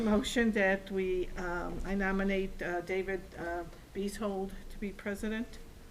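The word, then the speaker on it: Beezhold: Bees hold, just like it kind of spelled.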